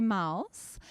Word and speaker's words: Maus: And Sexy Mouse is spelled M-A-U-S, like Sexy Mouse.